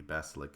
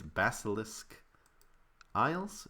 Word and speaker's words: Basilisk Isles: uh down in the basilic Isles I believe it's called I always pronounce that wrong but it's basilisk Isles is that how you